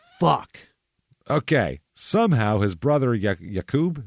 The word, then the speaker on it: Aqib: Somehow his brother, Aqib, is that how you say it? Aqib, yeah. Aqib, okay.